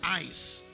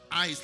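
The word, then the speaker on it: εἰς: The Greeks look at it as the word ice. It's actually spelled E-I-S, but it's pronounced ice, like I-C-E, E-I-S.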